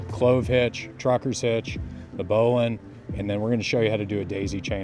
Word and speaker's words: bowline: It's spelled Bowline. It's pronounced bowline. Don't ask me why, but it is.